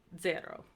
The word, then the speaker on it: zero: So Z is like the TS in it, or if it's at the beginning of a word, it's pronounced like DS. So like we said with conversazione, it's said with like a TS, and then if you were going to say 0, you'd say zero.